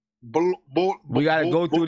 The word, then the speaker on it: Bol: Bowl. We got to go through this once more with you. Come on, man. Bowl. Wait, bowl. Say bowl twice. You know, like a cereal bowl? Say bowl twice.